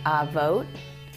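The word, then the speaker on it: אבות: vot here's how you say it in Hebrew aote the imahot that's our forefathers our fathers our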